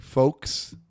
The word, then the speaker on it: folks: like the right way folks it's f-o-k-e-s is how you say it that's not how it's spelled I'm not convinced folk egg yolk I guess I do say egg yolk egg yolk